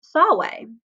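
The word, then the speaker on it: salve: spelled sa lve but because the V has a W sound that is why it's pronounced Solway these in classical line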